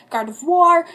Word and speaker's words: Gardevoir: Rayquaza, Gardevoir, don't you know French? The OI makes a wah sound.